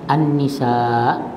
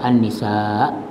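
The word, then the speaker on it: النساء: Dia kata ya terdapat dua cara sebutan an-nisa ya iaitu dengan membunyikan huruf huruf Hamzah an-nisa ya di akhir perkataan an-nisa Hamzah kan ya ataupun meninggalkan atau membuang bunyinya Hamzah itu menjadi an-nisa saja.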